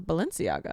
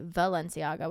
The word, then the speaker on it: Balenciaga: I thought it was Balenciaga. Me too, but sometimes I swear I hear people say Valenciaga with like a V. But it's a B. All right, we're going to go with Balenciaga.